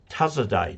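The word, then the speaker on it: Tasaday: this is 50 years ago they discovered that tazadai tribe die being spelled d-a-y it's pronounced in the Philippines the tazadai tribe who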